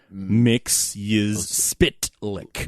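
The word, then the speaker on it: Mxyzptlk: I I cemented in my mind how to pronounce mix spit lick Miss spit lick because he like actually cuz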